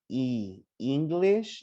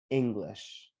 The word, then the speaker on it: English: it's like serious okay so don't say ee english no it's english can you guys say